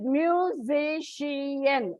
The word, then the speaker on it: musician: on the third syllable like musician it's polysyllabic word that's why it comes on the second syllable by musical is only